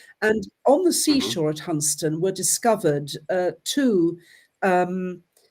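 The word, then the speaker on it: Hunstanton: go back to a place in Norolk called Hunston, spelled Hunst Stanton, but pronounced Hunston. And on the seashore at Hunston were discovered uh two um oak po rings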